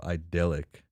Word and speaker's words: idyllic: Idyllic.